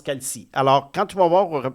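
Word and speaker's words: Calce: C A L C E. Ça se prononce Calci.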